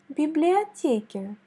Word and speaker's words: библиотеке: Выход к библиотеке.